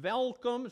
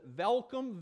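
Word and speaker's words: Welkom: center for children and velcome starts it's spelt with a W but they pronounce welcome welcome South Africa they're missionaries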